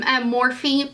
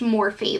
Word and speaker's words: Morphe: But I did get some Morphe palette.